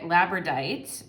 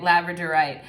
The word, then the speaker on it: labradorite: from pile number one is the labradite i'm gonna say i might be annoying in this video like pronouncing things incorrectly right labradorite so the labradorite stone